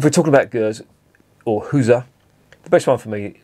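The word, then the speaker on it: Gueuze: I've been told it's pronounced Huza by a barman in Bruges who couldn't understand me when I was asking for Gers.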